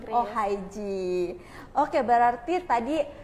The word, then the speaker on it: Ohigee: jangan ya De ya Bukan ohige Ya bukan ohige jadi kayak aneh sekali Den Heh makanya sebenarnya bacanya itu Oh dasar mungkin ya karena lidah Indonesia jadi apa yang ditulis begitu cara di baca sebenarnya ini cara bacanya dalam bahasa Inggris berarti Oh haij oke Berarti tadi e